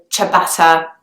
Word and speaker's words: ciabatta: with different fillings and the pronunciation of the word is actually very close to the original Italian pronunciation it's got a see an i and an italian that would be pronounced as a chi kind of sound so ciabatta is the way people say it in British English okay the next one